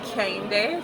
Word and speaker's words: Kehinde: do you say that everyone my name is actually kenday so i'm nigerian europa my name is actually